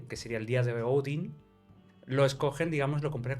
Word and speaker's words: Odin: en la mitología nórdica el dios principal es Odin. Bueno, la gente lo conoce como Odín. Bueno, Sí, tú lo dices más técnico, ¿no? digamos cómo se pronuncia en teoría, ¿no?